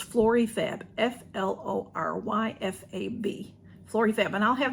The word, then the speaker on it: Floryfab: Flora let me say it right it's florifab f-l-o-r-y-f-a-b Flory Fab and I'll have them below and